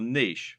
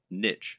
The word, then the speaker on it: niche: Or to use the correct internet business parlance, what is your niche or niche as some people pronounce it?